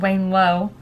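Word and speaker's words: Wanelo: I got this on an app called Wayne Low. It's spelled W-A-N-E-L-O.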